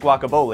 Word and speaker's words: Guaca Bowle: Yes, it's pronounced Guaca Bowle, and yes, everyone has an opinion about it.